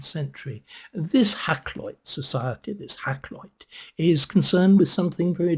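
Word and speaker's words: Hakluyt: now I can pronounce it's called hackit hackit was an Elizabethan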